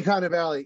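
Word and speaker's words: Cannavale: at kind of Valley am I am I pronouncing that right Bobby kind of Valley yes I love Bobby cannavali I think I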